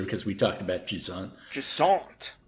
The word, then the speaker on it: Jusant: Jusant. It's like a French name, isn't it? Yep, I think you don't pronounce the T.